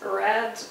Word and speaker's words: read: have a look at the word is read red red so pay attention that this spelling is the same but pronunciation is different reads it's usually present